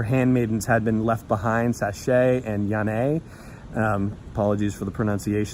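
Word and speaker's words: Saché: had been left behind sachet and yeah a apologies for the pronunciations but the accents are on the ease at the end so I believe that's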